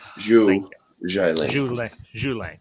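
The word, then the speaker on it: Xu Xialing: and Shang-Chi and the sister, because I can't pronounce the sister's name nor Zhai Lang. Okay. Zhu Zhai Lang.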